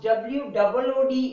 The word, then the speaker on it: would: Now remember, this word is wood, and we never pronounce W-O-O-D is wood, but W-O-U-L-D. I have heard few people, they are pronouncing it wood. L is silent over here. This also pronounced the sound wood. The sound is wood. W-O-O-D, look at the difference now. W-O-O-D is wood and W-O-U-L-D is wood.